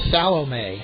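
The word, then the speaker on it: Salome: fourth is a designated hitter number 16 Angel salom s a l o m e batting fifth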